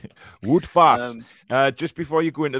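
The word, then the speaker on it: Wout Faes: The so last so Google name, Translate says it's pronounced Wout Fass, not Wout Face. Wout Fass.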